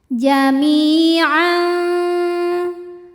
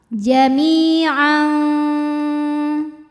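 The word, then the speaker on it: جَمِيعًا: Karena ada tanwin fathah menghadapi huruf fa. Maka cara baca tanwinnya adalah disamarkan, jadi tidak jelas N melainkan samar-samar. Kita siap-siap ke makhraj huruf fa. Jami'an.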